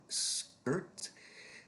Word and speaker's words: skirt: Our first item here, skirt. That is pronounced like bird.